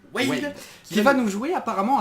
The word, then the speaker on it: Wailed: Aujourd'hui, là c'est Wade, si je prononce bien, il m'a expliqué comment prononcer. Wade, Qui va nous jouer apparemment un deck rigolo, un deck fun.